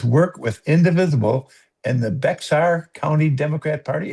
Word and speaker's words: Bexar: with Indivisible and the Bexar County Democrat Party. Is that correct? Fair County, but close enough. Yeah. It's a weird pronunciation.